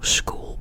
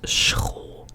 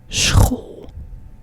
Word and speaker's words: school: This in Dutch is not, school, but it's school. So it is an S plus like a guttural G sound. So, school.